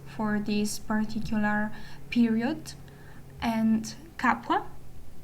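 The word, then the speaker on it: Capua: um we are talking about I will be using the Italian pronunciation which um is the original one and I think it's the most authentic one. So we're talking about Veo, Tarquinia, Kum and Capwa.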